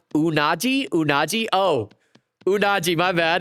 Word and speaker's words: unagi: It's pronounced unagi. Unagi. Oh, unagi. My bad. It's freshwater ya unachi.